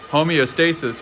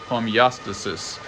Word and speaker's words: homeostasis: five or six years more examples of the second syllable rule as described in the other episode Auto FY versus autophagy homeostasis versus homeostasis got a bunch of stuff